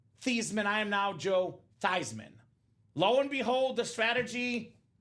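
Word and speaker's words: Theismann: they said Hey Joe let's change the pronunciation of your last name you are no longer thieman you're now Joe thyman now Joe nice person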